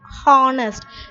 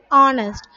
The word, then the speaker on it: honest: For example, an honest man, we should not pronounce this as honest, it's wrong, it's actually honest.